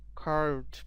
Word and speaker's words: carved: The pronunciation of between R is eliminated.